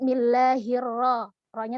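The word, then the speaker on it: بسم الله الرحمن الرحيم: Kayla lainnya kepanjangan itu Mad Thobi'i nya terlalu panjang padahal Mad Thobi'i yang seharusnya dibaca panjang itu adalah satu alis saja tuh kesalahan umum yang sering terjadi dan seringkali tidak kita sadari maka cara pengucapannya adalah Bismillahirrohmanirrohim kemudian ketika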